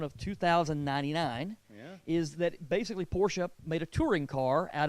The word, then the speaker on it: Porsche: around no I got Porsches yeah it's a German two syllable word two syllable word okay